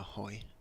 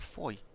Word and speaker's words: Hoy: A hoy. Shorter delivery from Gibson, played towards the cover area. A hoy. It's not a foy. No, there's a hoy. There's a hoy, is there?